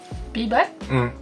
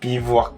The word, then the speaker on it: bivouac: Bibac? Bibac. En français, ça prononce légèrement différent. Bivouac.